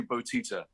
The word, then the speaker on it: Bottitta: here we go again, Bottitta. Did I say it right? Well, it's close. It's a lot closer than a lot of people get. It's actually Bottitta.